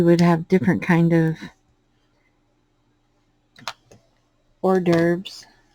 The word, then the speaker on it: hors d'oeuvres: have different kind of hors d'oeuvres my son called him call him horsey derbers because he would try to pronounce it like they were spelled um my oldest son